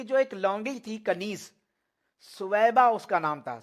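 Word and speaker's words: ثویبہ: ایک لونڈی تھی کنیز، سویبہ اس کا نام تھا، صوبیہ عموماً لوگ کہتے ہیں لیکن صوبیہ تلفظ غلط ہے، صحیح جو تلفظ ہے وہ ہے سویبہ۔ تو سویبہ جو اس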